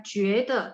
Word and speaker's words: 觉得: Nah, sehingga baca 觉得 merasa itu bacanya 觉得 itu merasa.